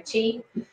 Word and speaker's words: qi: Okay, so qi is pronounced like C-H-E-E, not Q or Qui or so anyway, qi.